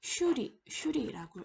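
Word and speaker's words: श्री: 자, 보시면은 슈리라고 읽습니다.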